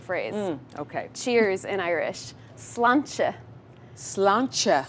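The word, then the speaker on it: sláinte: the most important phrase okay cheers in Irish slan slancha slan slancha right here CH t e CH how many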